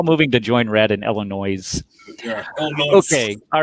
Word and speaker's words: Illinois: kind of like the S in Illinois. Yeah, so. Yeah, Illinois. Yeah, we're all moving to join red in Illinois.